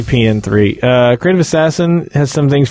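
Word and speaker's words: P.N.03: I call it PN3 because you don't pronounce the O or 0 in front of numerals. You just say the number.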